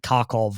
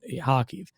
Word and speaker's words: Kharkiv: You'll hear people pronounce it Kharkov or whatever, but Kharkiv, which is about 20 kilometers from the Russian border.